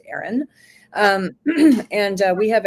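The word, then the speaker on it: Aeryon: Um it's called Aaron Wellness. So it's spelled a little different. It's a ee r y o n but it is pronounced Aaron.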